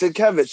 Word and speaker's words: Sienkiewicz: Yes, Sienkiewicz. Yes, I think I had. Am I mispronouncing it?